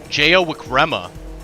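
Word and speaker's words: Jayawickrema: la auto show oh noah says the last name is pronounced jaya jayawikrema that's a that's a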